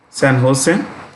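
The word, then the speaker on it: San José: san jose pronounced sam jose the j is pronounced with an edge san jose and this is run by a guy called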